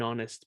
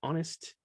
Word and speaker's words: honest: An honest person, porque la palabra honest no se dice honest, se dice honest, ¿cierto? Con la H muda, ¿ok?